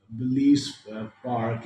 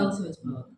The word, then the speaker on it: Belsize Park: I mean, you mentioned this one story about Belize Park, and So Souza moved away from Oh, London. Belsize Park.